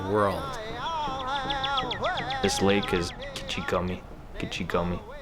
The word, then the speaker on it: Gichigami: Gichigami is how you say that in Ojibwe.